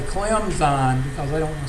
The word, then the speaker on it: Clemson: or something Cline but if you pronounce it Clemson you're saying I'm from around here and I'm a ignorant Southerner so they go out of their way to say clemon because they don't want